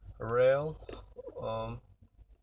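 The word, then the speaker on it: Roehl: that I can recommend where I went was rail it's pronounced it's ro ehl there is a one great company to start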